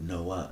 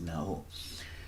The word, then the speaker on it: nau: The Nau is how they pronounced it. The Spanish pronounced it Nau. So I think it wasn't Noah, it was Nau.